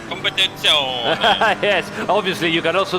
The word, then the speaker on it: competizione: How to pronounce competizione? Don't put any strange accent. Competizione. That's it.